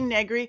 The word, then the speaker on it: Negri: my entire life decades going negri rhymes with nothing and it's a weird name that people get ah how do i say that name right i used to was able to say begley rhymes with ed begley who's an actor and